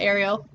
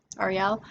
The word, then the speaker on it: Ariel: So, my name is Ariel, and it's not Ariel. I am not named after the Little Mermaid. I hate that so much. Been getting it my whole life. You say my name like the three letters, R-E-L. Say it really fast, Ariel.